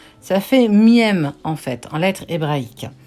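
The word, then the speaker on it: מם: Elle dit en fait, alors ça se prononce miaum, ça fait miem en fait, en lettre hébraïque.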